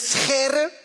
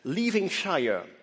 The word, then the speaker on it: Scherre: My last name is Scherre. That's how it's pronounced. Scherre. We have a lot of the g sounds in Dutch. As the saying goes, Dutch is not a language, it's a disease of the throat.